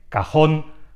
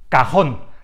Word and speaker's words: cajón: por eso necesita tilde cajón tiene el golpe de voz en la misma posición termina en la consonante n y por tanto la